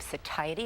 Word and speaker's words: satiety: I've been saying it wrong. Satiety. Is that how you say it? Yes, oh, well, there you go.